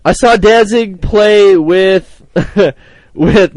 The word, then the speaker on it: Danzig: Pilots uh number one danzing and no no danzing well everyone says Danzig and they say I say it wrong but I don't know there's no n at the end of but yeah but that's how